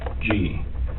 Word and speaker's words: Ravnsborg: Ravnsborg. Okay. But it's pronounced rounds, like a round circle, Okay. berg, like an iceberg. It's Danish.